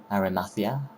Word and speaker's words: Arimathea: But yeah, the next level now will be the village of Joseph of Arimathea, that's how you say it.